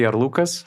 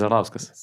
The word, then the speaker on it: Arlauskas: Is he Arlukas, like he pronounces himself? No, or Arlauskas? No, he's not. He's Arlauskas. That's Lithuanian heritage.